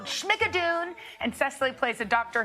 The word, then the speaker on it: Schmigadoon: Al said it sounds like Al says it sounds like Lorna-doon.